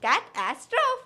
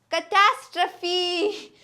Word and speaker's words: catastrophe: is not that it is compete you might pronounce it catastroph catastroph if yes then you are totally wrong it is not catastroph it is catastrophe we all pronounce it as catastroph but no